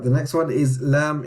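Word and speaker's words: لام: Right, the next one is Lam, exactly the same as English. Lam, Lam, Lam. Just memorize how to say the letter. So it's not L, it's Lam.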